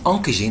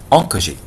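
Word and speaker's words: oncogene: إذا كلمة أونكوجين إن شاء الله في المحاضرة الجاية حندرسوا بعض الأشياء، وممكن في محاضرة اليوم أعتقد حندرسوا إيش معنى كلمة أونكوجين. فأونكوجين هو المسبب للسرطان، وتكتب كالآتي O-N-C-O-G-E-N-E أونكوجين.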